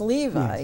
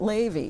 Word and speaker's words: Levi: Because I always thought the name Levi was Levi, not Ley.